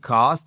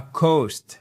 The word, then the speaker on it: cost: Tu cost et pas coast. Parce que si vous dites coast, c'est la côte, d'accord ?